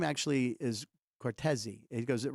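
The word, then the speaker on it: Cortese: of people don't understand my name actually is cortei he goes it rhymes with Martin it's like Martin coresi he goes so I want to be introduced as Dan cortei so I would pronounce his name when I'd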